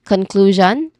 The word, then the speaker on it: conclusion: uh sound and then conclusion which has three syllables here we stress on the second syllable the first syllable is con we familiar we are familiar with that already con it's you know soft because there's awah sound in there the second syllable is clue it is stressed and pronounces clue with this long oo vowel sound and a consonant cluster in the beginning and last syllable is shan. It is soft.